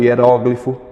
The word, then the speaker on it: hieróglifo: Eu tenho hieróglifo e hieroglifo, ambas as escritas possuem um dicionário, possuem uma referência no dicionário.